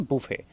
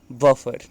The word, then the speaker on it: buffet: और इसको बोलते हैं, प्रोनाउंसिएट करते हैं बूफे, बट B speak बफर, right.